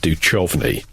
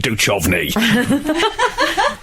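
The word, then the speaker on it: Duchovny: that the pronunciation was David du chovy than David du she got really act like borderline violence calling people it's David doovy well I got in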